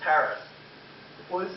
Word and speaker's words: Harris: And now it's me, Hattis. No, it's Harris. That's what I said. Hattis. No, it's Harris. Say it correctly.